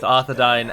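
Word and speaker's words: Arthedain: sure you know it's the pronunciation of the um a i combination of letters that's present in both arthadine and dunadine and of course it is pronounced as dying as if one were to sit down and dine with us and not dane as in dane ironford whereas the gentleman called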